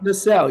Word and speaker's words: Nacelle: Is it Nacelle? Did I say it right? Nacelle? No, it's Nacelle. You had it right.